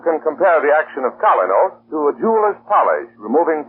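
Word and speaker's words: Kolynos: That's why you can compare the action of Colinos to a jeweler's polish, removing tarnish from precious silver.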